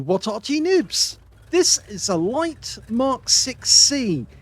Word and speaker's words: Light Mk VIC: uh light Mark 6 see cuz I almost said it wrong is not the light Vic A lot of people think that's the name it's not the name it's actually a six in Roman numerals with the c and they only made